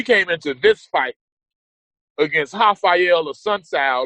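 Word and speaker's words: Raphael: a sun KO and I'm saying hael but it's spelled with an R that's how Brazilian names are pronounced the r is it has an a sound and it was it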